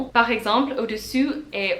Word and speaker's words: au-dessus: super well But also, there are just some vowels that are really, really similar, and make a big difference, in fact if you pronounce the wrong sound For example, "au-dessus" (above) and "au-dessous" (below)